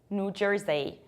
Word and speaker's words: New Jersey: We pronounce it like New Jersey. New Jersey, not Jersey, but Jersey. And you pronounce a very strong r.